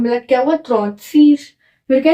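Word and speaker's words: trente-six: 36 को बोलते हैं त्रॉन्त सीज। ऐसे इसको त्रॉन्त, इसको सीज, तो साथ में मिला क्या हुआ? त्रॉन्त सीज।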